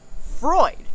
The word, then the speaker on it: Freud: was a student of Freud who you may have heard of whose name is spelled with an EU in the middle but it's pronounced like oi because that's German Fanatics and he said